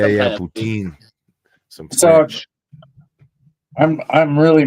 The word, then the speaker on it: poutine: Yeah, I Poutine. thought it was like pretzels or something. Poutine. It's French fries and gravy. Okay, so it is. Oh, yeah, some yeah. kind of food. Poutine.